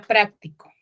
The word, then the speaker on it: práctico: ahí vemos la tilde Dónde está la tilde en en la primera palabra práctico En qué sílaba chicos en la amis en la otra cierto en la primera sílaba pero ahí práctico Qué